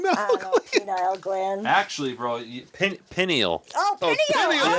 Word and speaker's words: pineal: Penile gland. Jesus. Parasympathetic? Penile, penile, I penile. don't know, penile gland. Actually, bro, pineal.